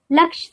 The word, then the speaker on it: laksh: Laksh soap. Laksh rhymes with lux.